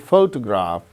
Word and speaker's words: photograph: in the case of the word photograph the first syllable gains stress the case of the